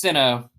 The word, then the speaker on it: Sinnoh: He's gonna get an evolution with a Sinnoh stone or Shino. Sinnoh? I like With a Sinnoh. Sinnoh I think stone. it's Sinnoh.